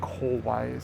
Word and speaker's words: kawaii: literally cute is and the pronunciation is important ka ka kawaii it's oh people will it up all the time because they'll say Kawai or somewhere in between like it's a lot